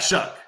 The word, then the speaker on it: Shuck: How the fuck is that Shuck?